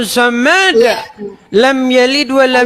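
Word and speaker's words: صمد: Saya bacanya begini. Qul huwallahu ahad, Allahu somad. Dimarah saya. Dimarah. Coba Bacanya bukan begitu. Coba Bang artinya Bang. Bacanya harus Coba begini. artinya. Qul huwallahu ahad, Allahu samad.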